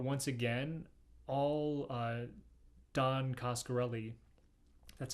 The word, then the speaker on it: Coscarelli: the most part once again all uh don coscarelli that's how you say his name all he